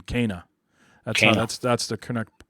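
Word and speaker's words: Kena: two shows it's actually cana like abel and k for people who are familiar with the bible abel and kane right and just just put an a at the end of kane kana that's that's the connect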